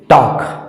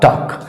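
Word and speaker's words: talk: टी ए एल के टॉक टी ए एल के का मतलब क्या हो जाएगा इसका सही उच्चारण क्या हो जाएगा टॉक उसी तरह से एल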